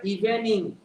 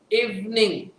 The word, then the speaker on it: evening: অনেকে উচ্চারণটা করে ইভিনিং, নো, ইভিনিং। কি বলবো আমরা? ইভিনিং।